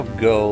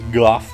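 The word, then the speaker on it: Gogh: That's how that's how go like Vincent Van is supposed to be pronounced, right? Like technically it's like Guff, but nobody cares.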